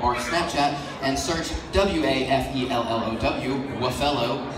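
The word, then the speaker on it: Wafellow: Waffello is not pronounced Waffalo. Don't do that, I will get mad at you.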